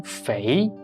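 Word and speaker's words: 肥: flying in the sky in the second tone Fei it means fat it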